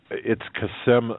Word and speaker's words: Qasem: It's Qasem Soleimani.